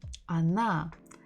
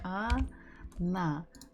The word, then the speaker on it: она: So the word she, она, the stress falls on the last syllable. So the first letter O, is not stressed. So we must read it or pronounce it as A.